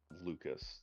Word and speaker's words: Lucas: with the first name Lucas how would you pronounce it Luca okay I wasn't sure